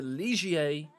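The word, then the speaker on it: Ligier: our first race in the legia yes I do look up the correct pronunciation the LMP free car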